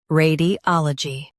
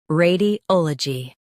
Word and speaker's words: radiology: ray di ol uh jee radiology ray di ol uh jee radiology In US, stress ah. In UK, stress ol.